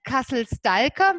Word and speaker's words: Castle Stalker: Genau, dieser Name Castle Stalker wird übrigens richtig ausgesprochen, weil es ist gälisch und kommt, ich habe mir das extra rauskommen, von Stalkeire, also Stalker, Stalker und heißt Falkner.